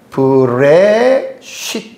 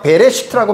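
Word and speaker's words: בראשית: 앞에 있는 브 혹은 전에는 제가 베레 시트라고 말을 했지요 여기에 화라고 하는 밑에 점두 개 모음이 원래 애 발음이나요 그래가 배라고 하는라고 하는 자음에 모음 애가 붙으니까 배로 읽는데 학자들이 거의 대부분이이 화를 묵음으로 발음하지 않습니다 그래서 브레시 브레시트 이렇게 읽는 거예요 그래서 브라고 하는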